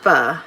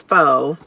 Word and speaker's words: Pho: it's pho but but it's pronounced fuh and I thought it was faux anyway so but faux